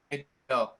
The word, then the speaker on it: Gadot: Gadot.